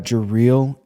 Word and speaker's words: Jareel: So we've got Jareel, right? Jareel. I'm going to respond either way, but Jareel is how you pronounce it.